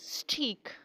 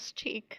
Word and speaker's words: steak: And the next steak. Steak? No, this is not steak. This is steak.